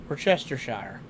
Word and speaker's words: Worcestershire: Yeah, it's how it's spelled, but apparently the CE in the WRCE is silent.